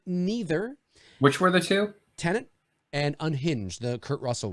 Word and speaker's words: Tenet: Tenet, I think. Isn't that how it's pronounced? Tenet. Tenet. Yes, that's right, Tony.